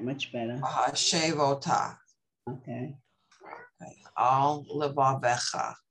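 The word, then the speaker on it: וַהֲשֵׁבֹתָ: Vahashavota. Right, much better. Vahashavota.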